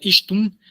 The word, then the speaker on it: ixtun: Y el ton, que en realidad es Ishtun, se pronunciaría Ishtun, que era lo que